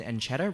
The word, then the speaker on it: Ancheta: see speakers please rise senator Ancheta and is that pronunciation correct senator and Chetta please Perret correct me on any pronunciation mistakes good morning everyone my name is Senator and Chetta representing the state of Texas for the convenience of the judges in the back it's spelled aan CH e ta again it's spelled a